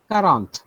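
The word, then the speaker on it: quarante: will be thank you number 40 is pronounced as q-u-a-r-a-n-p-e so how do you pronounce 40 just give me a try sorry again i couldn't hear you around okay so q u is yes q u is true perfect q u is pronounced as k karan 41 perfect so 45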